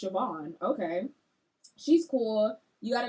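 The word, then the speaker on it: Siobhan: for the longest time I thought that name was caban until someone had pronounced it and I was like oh that's sioban okay she's cool you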